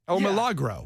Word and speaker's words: El Milagro: It's very likely that you've purchased El Milagro chips or tortillas at the grocery. Oh, that was easy. El Milagro. There you go. I thought it was disrespectful to say it that white.